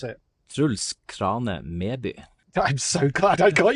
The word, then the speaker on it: Truls Krane Meby: And your full name, please, Truls, because I don't want to mispronounce it. Truls Krane Meby.